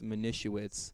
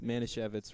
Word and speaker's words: Manischewitz: a shoe it yeah he called pronounces Manischewitz man issue it's minissha whatz and like I kind of love him for doing it because he loves minh issue it's Manischewitz rather and like and like